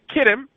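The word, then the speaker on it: Kittim: the latter for the ships of him or chittim or really kid him the ships of kid him the CH pronounces cave a ship of kid him shall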